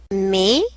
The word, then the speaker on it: mais: Mais, the S is mute.